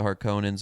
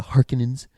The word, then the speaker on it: Harkonnen: But there's like scenes of like Gidi Prime when like the Harkonnens are like, or as they say now, the Harkonnens. It makes sense with the two N's because the E is what would make it Onin.